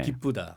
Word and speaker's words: 기쁘다: 본인은 우로 발음하면서 아. 다시 한번 발음해 쓰였기 주세요. 때문에 기쁘다. 기쁘다. 그렇죠. 우로 발음하신 겁니다.